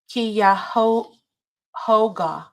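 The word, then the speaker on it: Cuyahoga: It's pronounced Kyo Hoga. Oh, thank you, Nicole. Kyoga. Kyhoga.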